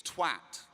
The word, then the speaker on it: twat: On behalf of all English-speaking countries, it is twat. It's twat. It rhymes with hat, it rhymes with cat.